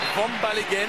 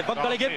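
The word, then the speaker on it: Vanbaleghem: Non, c'est Van Ballegen qui va rentrer. Il est du Nord. On peut le prononcer un petit peu à la belge.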